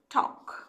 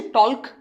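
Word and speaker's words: talk: টি, এ, এল, কে, কি উচ্চারণ হবে? টক। ঠিক, এল উচ্চারণ করছি, টল্ক নয়।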